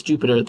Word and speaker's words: Jupyter: All right, you pronounce this as Jupyter. There's a PY in it for Python, which is kind of cute.